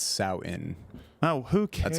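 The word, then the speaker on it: Samhain: admonished uh by the edit Bay it's not Sam Hayne it's sow in oh who can that's how you pronounce it that's how you pronounce it but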